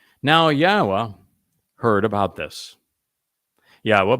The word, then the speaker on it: Yahweh: yahwa heard about this Yahweh by the way is the proper pronunciation of yod wah Our elah God as